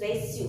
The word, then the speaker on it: reçu: So this is reçu. Reçu means receipt. So when we put cedille, C is pronounced as S.